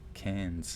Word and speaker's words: Cairns: further is a tropical tourist town called townsville it's spelled townsville but just up a little further is cairns cans scooch over to the left you have darwin